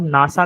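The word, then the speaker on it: NASA: हम नासा को एन ए ऐसे नहीं बोलते। ठीक है? हम सीधा क्या बोलते एज अ वर्ड उसको प्रोनाउंस करते हैं जैसे नासा ठीक है फिर जैसे हो गया इसरो हो गया हम आई एस आर ओ नहीं बोलते हम उसको इसरो बोलते हैं ठीक है तो ऐसे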